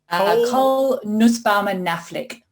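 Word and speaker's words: Cole Nussbaumer Knaflic: Can you pronounce her name for me then? Cole Nussbaumer-Knaflic.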